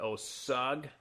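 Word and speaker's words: Osage: it here my name is I'm in osag man who knows how to pronounce this one o osag o s a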